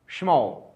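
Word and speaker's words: schmo: जाहिर सी बात है आप इसे स्कम पढ़ने की कोशिश कर रहे होंगे बट दिस इज रंग gentleman you आर to read it यू आर to pronounce it स्म दिस इज रीड स्म शमो शमो शमो इस तरह से यूज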